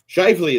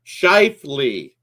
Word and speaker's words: Scheifele: Scheifele, that's it. See, Mark Scheifele. I knew that. It's Mark Scheifele.